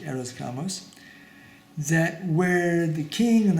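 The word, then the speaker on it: hieros gamos: arrows gamos type idea h-i-e-r-o-s-g-a-m-o-s i think it's pronounced eros gamos that where the king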